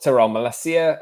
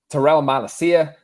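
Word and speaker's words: Tyrell Malacia: off apparently uh we'll talk terrell malesia as well i'm sorry i pronounced that name wrong terrell malacia uh his comments on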